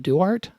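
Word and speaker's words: Duarte: If you're interested in finding out more about my music and art, you can follow me on Facebook, Duart, with a silent E at the end.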